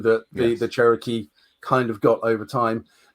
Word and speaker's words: Cherokee: is a very proud Cheroke uh or cherro not sure what is the correct pronunciation for that Dave so the pr pronunciation that is Cherokee Cherokee um but also